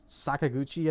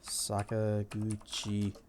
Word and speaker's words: Sakaguchi: It was made by Mistwalker, the studio that was started by Hironobu Sakaguchi, I think is how you say his name.